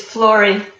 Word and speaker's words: Flori: It's Flori Ah.